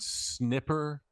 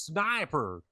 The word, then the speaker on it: sniper: in the South, and saying the word snipper in front of like the room of boys I was playing with, and they were like, no, it's sniper. You need to get it's pronounced sniper.